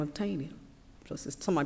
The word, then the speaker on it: Taney: a Supreme Court justice by the name of tiny justice um I pronounce the TA any wise how you spell